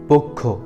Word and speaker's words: পক্ষ: 1 নম্বরে হচ্ছে পক্ষ। আমরা অনেকেই ভুলভাবে এটাকে বলে থাকি পক্ষ। এটা পক্ষ হবে না, আমরা এটাকে শুদ্ধ করে বলবো পক্ষ।